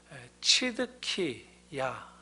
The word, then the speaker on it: 시드기야: 우리말로는 시드기야 이렇게 되는데 치드키야 이렇게 발음할 수도 있습니다.